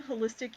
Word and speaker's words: Holystic: I am Holistic Yoga. Holistic is spelled Holystic, so like holy stick, holistic, just spelled with a Y.